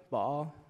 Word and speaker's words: Baal: So shortly after, the Lord told Gideon to destroy the altar of Baal. Is that how you say it? Baal?